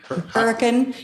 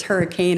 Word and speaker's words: Hurricane: Hurricane is how I say it, but it's hurricane is how it's spelled.